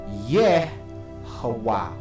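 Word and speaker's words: יהוה: Let's go through why this is Yehovah.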